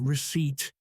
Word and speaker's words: receipt: It has a silent letter P. That is the receipt? No, receipt.